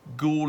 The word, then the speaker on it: Goole: Despite a different spelling, Goole is phonetically identical to Ghoul, which is a demon with a very particular purpose, to avenge the unjustified death of another.